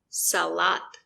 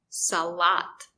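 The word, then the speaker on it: салат: papa papa baba lappa here we have a two-syllable word but the stress is on the second syllable salat the second syllable is stressed so the letter a makes an open sound ah salat the first syllable is not stressed so the letter o makes a closed sound ah it's very short salat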